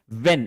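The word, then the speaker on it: when: यह आप अच्छे तरीके से समझ लीजिए कि जब भी भी डब्ल्यू के बाद एच आता है तो हम इस एच को प्रोनाउंस नहीं करते हैं।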